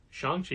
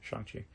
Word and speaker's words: Shang-Chi: It's Shang-Chi is how you pronounce it. Shang-Chi.